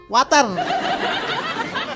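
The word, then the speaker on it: water: জিবার্বার আগা সামনে দুই দাতের সাথে লাগবে। ওয়াটার ওয়াটার।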